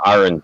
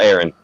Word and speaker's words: Aaron: oh, speaking of names, James Aaron Rod pronounces his first name Aaron, just so you know, not Aaron.